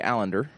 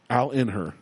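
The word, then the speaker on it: Allinder: I always call him Allender. Well, you pronounce things wrong. That's well established. Allender. Allender. What'd you say it was? Allender. Al, A-L-L-I-N-D-E-R. Allender. Al in her. All in her.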